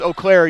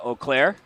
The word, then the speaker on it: Eau Claire: know how to pronounce oair you have not been paying attention to division three very much and you flunked French class there you go well